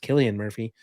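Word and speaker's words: Cillian Murphy: Chris Nolan and now I just realize that celan Murphy's is pronounced Killian Murphy um they they probably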